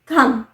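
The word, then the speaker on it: thumb: है फिंगर्स अब अंगूठा थम स्पेलिंग में भी है टी एच यू एम बी बट उसे प्रोनाउंस नहीं किया जाता है व साइलेंट है थम थम इस उंगली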